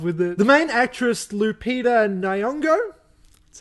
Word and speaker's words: Lupita Nyong'o: The main actress, Lupita Nyong'o, that's how you say her name, is officially